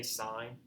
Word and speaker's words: sine: Now, when you pronounce these, you don't pronounce this as sin. You still say sine.